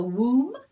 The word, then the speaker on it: womb: say who or whom this b is also silent so womb is part of a